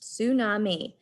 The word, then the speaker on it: tsunami: The name scientists use for this kind of wave is tsunami, pronounced tsunami, a Japanese word for sea wave.